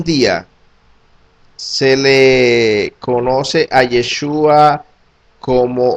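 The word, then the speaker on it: ישוע: David Bibin, cristianos gentiles, Yeshua era como se pronunciaba el nombre de Yeshua por los judíos de Galilea en el siglo I.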